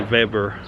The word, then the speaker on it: Weber: season sale uh another weber or weber as you probably call it over in north america over here with the w's are pronounced like a v so it's a weber